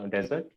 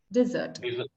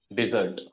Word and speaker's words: dessert: yeah that's correct however you can pronounce it as a little twist in the D desert dessert dessert okay yeah because if you clearly say desert it will be that desert in the thar area